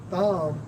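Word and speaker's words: תם: Right, so plain man, plain in the Hebrew, Strong's H8535, pronounced as Tham, which means complete, morally innocent, having integrity.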